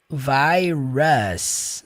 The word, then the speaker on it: virus: Lembre-se que palavras que aqui terminam com US, a pronúncia vai ser us. Virus. Não é virus.